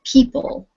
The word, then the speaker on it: people: or down across so the next one is people two syllables and the stress is on the first syllable what about the next